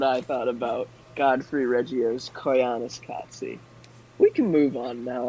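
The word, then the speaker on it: Koyaanisqatsi: Koyaanis Katsi, and it means life out of balance.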